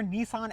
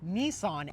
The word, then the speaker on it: Nissan: So, the number two in Japanese is pronounced "ni", and then three is pronounced "san". Therefore, these taillights read Nissan in Japanese.